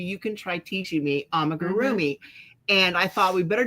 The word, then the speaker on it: amigurumi: I've never done amigurumi.